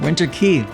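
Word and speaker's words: Winter Quay: Oh, Winter Key. That's how you pronounce that.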